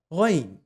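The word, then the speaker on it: غ: When you pronounce it, make sure your air passageway is clear and it's not constricted. Let the air pass easily, just like the letter kha. And it is with a mild O sound.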